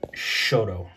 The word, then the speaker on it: Shodo: as s-o--d-o but um when I talked to my friends that live in Japan they pronounce it Shoto so you know whatever